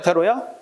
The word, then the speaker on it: 대로: 할아버지께서 대로하셨다가 맞지? 대노하셨다면 틀리게 된다.